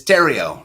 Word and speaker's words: Theriault: It's Theriault. Rhymes with Theriault. Oh, yeah. Theriault. Got it. Theriault. Okay. Those darn French. Everything's silent.